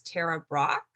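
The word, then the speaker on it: Tara Brach: of my favorite meditation teachers her name is tara brock um t-a-r-a b r a c h and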